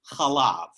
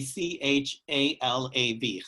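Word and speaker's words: חלב: The word for milk in Hebrew is chalav, which would be C-H-A-L-A-V, chalav, if you're putting it into transliteration into English letters.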